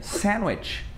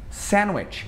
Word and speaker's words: sandwich: Sandwich. Sandwich. A gente não fala sandwich. Esse D, ele geralmente ele costuma ser mudo, principalmente lá pros americanos.